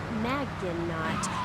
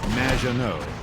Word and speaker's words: Maginot: Maginot. Welcome to the show. Thanks, Amy. However, you have mispronounced my name. which rhymes with badge. As in duh, and no as in more than you. Maginot.